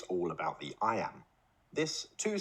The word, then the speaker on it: iamb: about sound not spelling I Amba can't amateur may sound technical but there's an easy way to remember what it means the word I am is pronounced just like the phrase I am now let's expand that